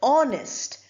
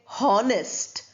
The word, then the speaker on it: honest: Then you have the word honest. We don't say honest or honor.